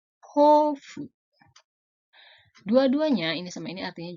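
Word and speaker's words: 豊富: Ini dibacanya hofu.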